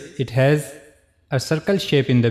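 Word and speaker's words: ح: So for pronouncing Ha, we have to use the lowest part of the throat, which is on the chest side.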